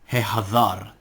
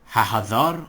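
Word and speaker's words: הֶחָצֵר: Hehazar. Notice this is Hehazar and not Hahazar or Hahazar.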